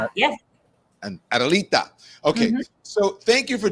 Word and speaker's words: Adelita: Adelita. Yes. And Adelita.